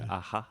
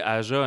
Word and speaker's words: Aja: On dit-tu Aja? Je sais, les J qui sont prononcés comme des H en espagnol.